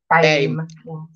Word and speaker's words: BAME: How do you pronounce it? Is it BAME? BAME.